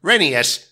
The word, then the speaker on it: Rheneas: That's how my name is actually pronounced, Rheneas.